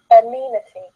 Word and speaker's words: amenity: pronunciation of these words the first word is amenity but that's four syllables one mean t-this is NEMA T here